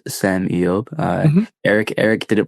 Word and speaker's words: Sem Eyob: Uh it's spelled S E M E Y O B pronounced Sam Eob.